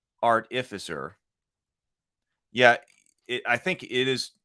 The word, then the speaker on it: artificer: So we got confirmation. Sable also always keeps us straight on pronunciations. So artificer is the way to go then.